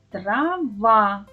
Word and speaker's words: трава: Промовте іще раз слово це трава. То який склад ми вимовили з більшою силою голосу? Правильно, малята, наголошений склад в слові трава другий.